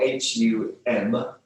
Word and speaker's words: Hum: Hum, we can spell it H-U-N-G, if you like, or H-U-M, with a dot underneath the M.